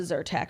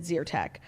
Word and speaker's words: Zyrtec: is yeah so obviously ben loves a zyrtec or as he weirdly pronounces it zertek um but that [